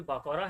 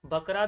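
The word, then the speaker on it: بقرة: कुछ कुछ जो स्टूडेंट्स हैं वो इसको बकरा भी प्रोनाउंस करते हैं। ठीक है? तो इसका सही तलफुज़ आपके पास है बाकारा।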